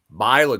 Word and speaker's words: Myla: So Myla, like Mila Kunis.